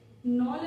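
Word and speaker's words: Knoll: नॉल and Ruska ने की थी। केस साइलेंट याद रखिएगा।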